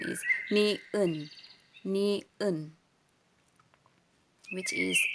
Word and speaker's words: 니은: So, ang tawag nito, or paano ito bigkasin is niun.